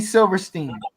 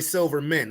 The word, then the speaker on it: Silverstein: Yeah, Larry Silverstein. I said Larry Silverman.